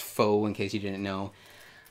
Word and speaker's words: faux: these are both the faux leather faux it's pronounced faux in case you didn't know um you can